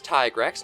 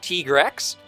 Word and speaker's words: Tigrex: the voice actors mm-hmm except it's tigrex not Teague Rex so interesting things they're